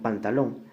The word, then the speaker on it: pantalón: Lo mismo sucede con pantalón, lleva la mayor fuerza en la última sílaba, y como termina en N, entonces sí va tildada.